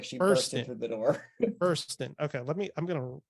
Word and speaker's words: Burstyn: uh and I always forget it's not Ellen Bernstein right is that how you pronounce her no it's Ellen Buren like she bur the door buron okay let me I'm gonna bur I keep